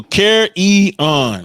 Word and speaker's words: carrion: So carry-on. I'm pronouncing it correctly. Carry-on. Y'all see that? Rhymes with clarion or barbarian, whatever.